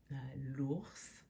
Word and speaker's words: l'ours: L'ours, do pronounce that S.